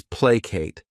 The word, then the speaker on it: placate: The next verb is placate. This word has two syllables and the stress is on that first syllable.